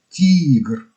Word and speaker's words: ТИГР: Мы ввели туда вторую букву «И», произнося аббревиатуру ТИГР с длинной буквой «И», подразумевая, что более логичный